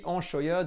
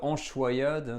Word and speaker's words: Anchoiade: Let's start our journey on making dips with the Anchoiade or Anchoiade, depending on where we are in France. It's pronounced differently. It's maybe my accent from Paris that does this.